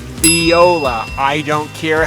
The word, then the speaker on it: Viola: I've pronounced some Viola it's spelled like a violin but it's pronounced Viola I don't care how